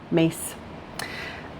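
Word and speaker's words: Myss: mesa's book sacred contracts her last name is spelled m-y-s-s excuse me m-y-s-s you can find her on amazon sacred contracts carolyn mace and that's how you say her name mace um okay now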